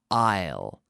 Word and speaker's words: aisle: I s L II but we pronounce it I'll almost like the contraction of I will I'll be there tomorrow I'll I'll go to the cinema and I will sit in the aisle Pasi yo Isle I'll